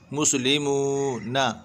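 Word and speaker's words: مسلمون: ली, muesli, meme वाव पेश मू, वाव मद्दा, मुस्लिमू ना, नून ज़बर ना, मुस्लिमून, मुस्लिमून नहीं पढ़ना है, लेमून नहीं, मुस्लिमून।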